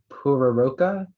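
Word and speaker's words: pororoca: Maybe, are there alternate pronunciations? Yes, there is one. Puraroka, Puraroka.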